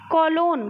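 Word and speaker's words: cologne: जी silent होता है कोलोन कोलोन में जी साइलेंट होता है नो नो में जी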